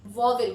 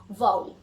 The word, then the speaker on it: vowel: वाउल, वाउल मतलब वॉवेल, कुछ लोग हम लोग वॉवेल भी बोलते हैं, इसका सही प्रोनाउंसिएशन होता है वाउल।